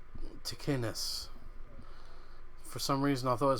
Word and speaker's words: Ticinus: So it's pronounced Ticinus. For some reason, I thought it was pronounced Ticinus.